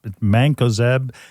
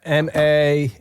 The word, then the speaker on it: Mancozeb: It's Mancozeb. Spell it, Julio. It's Mancozeb.